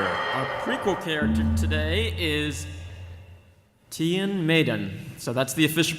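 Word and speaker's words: Tion Medon: our prequel character a prequel character today is Tian Maiden so that's the official pronunciation Tian Maiden that means Tim said it wrong during her Tian midden episodes entire time that's when we got we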